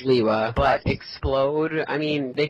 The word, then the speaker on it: Lewa: Kanohi Hao, Liwa, Lewa. Well, no one really agrees on Lewa. I'm still confused whether it's Lewa, Liwa, or Liwa. It's Liwa, but Explode, I mean, they could have just spelled it normally.